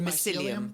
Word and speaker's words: mycelium: I mean, mushroom and what it's pronounced that again? The mycelium.